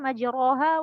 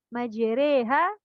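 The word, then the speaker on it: مجراها: sana kita bacanya majiri jadi nggak dibaca majuroha WA mursaha tapi majreha enya itu kayak kita bilang cabe ya bukan bukan yang satunya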